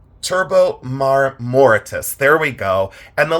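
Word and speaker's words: marmoratus: I do this on memory and I always mispronounce this but it's turbo and then um morortitus. It's turbo maritus.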